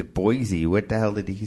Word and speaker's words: Boise: Because it's Boise. What the hell did he say? It's actually, we say it wrong everywhere else. I guess they say it Boise. Yep, Boise. Kinda Gotta say the C.